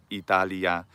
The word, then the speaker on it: Italia: Maybe not quite a J sound, not quite nya, but close to it, like Italia, instead of, like, the Italian national anthem, Italia, Italia, right, fratelli, Italia, and the lia is one syllable.